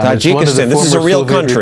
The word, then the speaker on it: Tajikistan: Tajikistan Tajikistan.